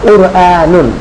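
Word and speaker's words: قرآن: আমরা কোরআন শরীফ পড়ি, তো কোরআন শরীফের শুরুতেই আছে কফ। তো এটা উচ্চারণ আমাদের করতে হবে কুরআন, হ্যাঁ, কুরআনুন, কুরআনুন।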